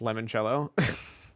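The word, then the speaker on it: limoncello: game and I app I believe it's pronounced lemon cello you're not wrong all right gameplay reveal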